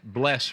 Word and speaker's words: Bless: The A is silent in my last name. A loyal fan, Bless, Richmond, Virginia.